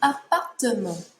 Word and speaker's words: appartement: An apartment is un appartement. Un appartement. This one has 4 syllables. Appartement. In English, we would just say apartment. Appartement. 4 syllables.